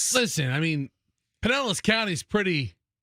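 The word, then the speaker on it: Pinellas: I've always said Penllis. Who are the folks that say Pine Nellis? The Hillbillies. Pod Nellis. Listen, I mean, Penllis County is pretty civilized now, but Nellis.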